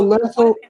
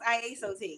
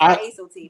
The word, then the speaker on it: Iaso: A lot of people say lasso because they think it's an L, but it's really an I. So it's IASO.